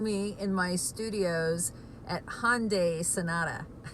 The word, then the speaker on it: Hyundai: I think they say hi on day and in here in the states we say Han died but the pronunciation is Hyundai it rhymes with Sunday so I'm calling this